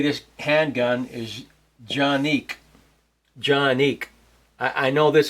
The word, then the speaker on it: Canik: is going to be the johnic tp9sf most Americans say canic I'll uh I'll show you why it's actually jique um doesn't really matter though uh so let's